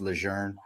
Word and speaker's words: Lejeune: lejeune general john a lejeune it was actually pronounced legerne but it's bro what'd your boy what were